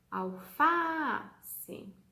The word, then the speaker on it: alface: Qual que é a nossa sílaba tônica? Vamos chamar ela alface.